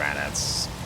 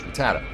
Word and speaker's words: Rattata: Ah, it's just one of the ratats. Ratat. Ratits. Damn it. I'm a huge fan of generation one. How do I not know how to pronounce ratat? Rattat. Rattata. Jesus Christ. There it is. Rattata.